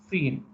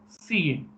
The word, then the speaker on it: cin: Then we'll go for the cin. So as I said, so console input. Previously it is console output. It is console input, as it is pronounced as cin.